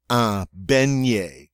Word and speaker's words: beignet: the next one beignet beignet remember this GN has a near sound beignet and that's the word